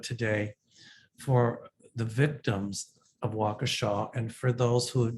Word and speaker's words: Waukesha: i am sending prayers to the victims in waukesha some of you don't know how to pronounce it is pronounced waukesha uh it's kind of near kenosha i don't